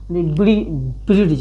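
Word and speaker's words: bridge: इसे इसको ब्रिड्ज, अगर पढ़ते तो क्या पढ़ते? ब्रिड्ज, ब्रिज यानी इसको ड लाते, लेकिन डी हमेशा जी से पहले आया तो हमेशा क्या होगा, साइलेंट होगा।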